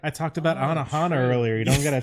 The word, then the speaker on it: Anohana: Anohana. That's I'm pronouncing that correctly. Yes. Okay, I want to look that up because I've not heard of that. This is my first time hearing. It's Anohana, the flower we saw that day.